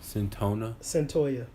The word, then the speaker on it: Cyntoia: And let's talk about, I don't know how to pronounce the first name. Cyntoia Brown. Cyntoia.